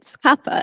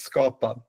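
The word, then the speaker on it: skapa: S did all the practicing with the the pronunciation, but I didn't. Is it scappa? Is it how you say it? I think we will get to that, but it's Scotta, which means create in Swedish.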